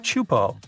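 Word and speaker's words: Teahupoʻo: all the name itself is a mouthful is pronounced chupo and it means broken skulls in tahan yeah you heard that right broken skulls the waves at chupo are massive and can reach up to 23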